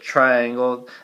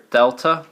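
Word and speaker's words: Δ: we don't pronounce it triangle that triangle is the Greek letter Delta that represents or stands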